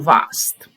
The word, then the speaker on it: war: of the verb VA you don't pronounce that r at the end so always almost always